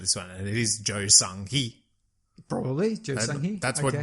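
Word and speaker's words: 조성희: the pronunciation of this one, and it is Jo Sung-hee. Probably, Jo Sung-hee. That's what Google pronunciation told me.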